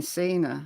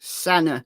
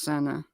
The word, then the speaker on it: Sena: I keep saying Cena, as in John Cena, but Senna. She confirmed that the surname is pronounced Senna.